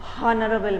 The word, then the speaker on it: honorable: It is honorable man. No, we don't say that. Because H is silent here, your pronunciation starts from the O sound.